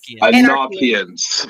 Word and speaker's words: Anarchians: Anarchians from the word anarchy. So from the word anarchy, but it's anarchians. Yeah, that's how you pronounce it.